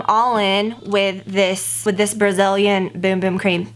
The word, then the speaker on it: Bum Bum: It is pronounced Boom Boom. Some of you guys like, because I will always say bum bum, because like bum is a word for like, you know, your booty. But in Brazil, which this is a Brazilian product, when it's spelled like that, they pronounce it boom, like boom boom.